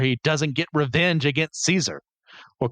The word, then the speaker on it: Caesar: He can't imagine a world where he doesn't get revenge against Caesar or Caesar, which is the actual correct Latin pronunciation, but I'm going to flip-flop between the two.